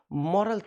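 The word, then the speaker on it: morale: We must follow मॉरल things, हमें नैतिक चीज़ों का पालन करना चाहिए। मराल का मतलब होता है noun, that is pronunciation is मराल।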